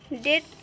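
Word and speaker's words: debt: यहाँ पे भी देखिए डेट, तो यहाँ पे डी बी के बाद यहाँ पे टी आया हुआ है, तो यहाँ पे बी साइलेंट होगा।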